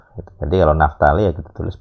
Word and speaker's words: Naftali: Jadi kalau Naftali ya kita tulis P, walaupun bunyinya Naftali ya tidak apa-apa, tapi nulisnya kita P, Naftali.